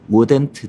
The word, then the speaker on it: wouldn't: 제가 디렉 할 때 많이 하는 I wouldn't 정확하게 우 말고 우랑 워랑 약간 섞어서 I wouldn't 약간 이런 식으로 저는 발음하는 편입니다.